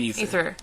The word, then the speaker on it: Aether: Well, it's spelled aether, but it's said ether.